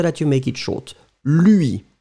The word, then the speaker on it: lui: Lui. Be careful, it's not Louis, because Louis, that's the name of somebody. Louis XIV, for instance. So it's lui. Make the difference between lui and Louis.